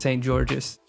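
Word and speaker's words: Saint-Georges: Saint Georges. Chevalier de Saint Georges. Also Joseph Bologna. I really hope that's not how you pronounce it.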